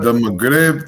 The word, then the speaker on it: Maghrib: It's the Maghrib Times.